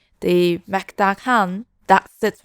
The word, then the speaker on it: Mukdahan: Thailand has this cool border town called the Mactakan that sits right along the Mekong River. I'm gonna put the correct pronunciation from AI of this town. Mactahan.